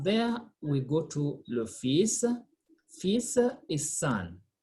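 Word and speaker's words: fils: we go to le fisa fisa is sun we don't say feels l is silent it's a unique word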